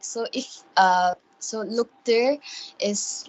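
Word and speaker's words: luktir: written as l-u-k-t-i-r and normally anyone would pronounce it like look tear or something like that something along those lines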